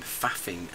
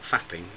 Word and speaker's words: faffing: I'm faffing, as an Englishman might say. Faffing? I am faffing. I don't know that one. Well, it's not fapping, it's faffing.